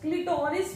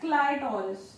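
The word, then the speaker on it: clitoris: क्लिटोरिस भी लिखा होंगे किसी किसी जगह पे, या इन्हें बोल दे क्लिटोरिस, I pronounce it एज क्लाइटोरिस, spelling easily याद हो जाते क्लाइटोरिस ना।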